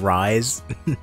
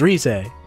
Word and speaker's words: Rise: first when you first saw risay and read it like rise not risay no i i i i had enough experience playing you know japanese games where i went i went her name's like pronounced phonetically right so it's risai and i was like